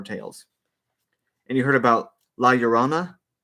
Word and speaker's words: La Llorona: why she's called La Llorona yeah yeah that's pronounced right La Llorona the Weeping Woman I just feel like I